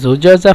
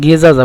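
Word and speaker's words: زجاجة: লিমাযা এই যে বলছিলাম জুজাজা, জুজাজাকে মিশরিরা গেজাজা বলে ডাইরেক্ট, মানে এই যে জুজাজা শব্দটি কিন্তু জুজাজা যা মানে যা জিম, জিম আলিফ জিম যা, যা এই যার পরিবর্তে মিশিরে বলে জিম, জিম তারপরে যা, যা এভাবে বলে গেজাজা, ডাইরেক্ট বলে গেজাজা।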